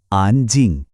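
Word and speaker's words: 安静: কিন্তু দ্বিতীয়টা জিং, এটা হলো ফোর্থ টোন, মানে আওয়াজটা হঠাৎ করে ওপর থেকে নিচে নামবে, একটা ঝটকার মতো, জিং। একসাথে বললে দাঁড়ায় আন জিং।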